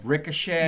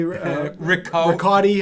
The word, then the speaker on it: Richotte: Well, they were calling you like Ricochet. Yeah, Ricochet. Richotte. I thought Richotte I heard once. Yeah. Rico. Like, how does Rico. Richotte.